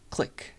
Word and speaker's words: clique: I know that like informally we pronounce this word like clique, right? Like a clique of people. But in graph theory, you say it clique, like French, I guess. So French pronunciation.